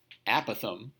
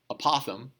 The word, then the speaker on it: apothem: My understanding is the correct pronunciation is apothem, although I and several other people have called it apothem. I'll take either. It does not really matter.